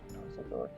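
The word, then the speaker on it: Xendor: Zendor, it's spelled with an X. Zendor.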